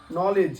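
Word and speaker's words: knowledge: দিয়ে ইট ভাঙ্গা নেভ নেভ মানে হল প্রতারক নলেজ মানে জ্ঞান নীল মানে হাঁটু গেড়ে বসা দেখ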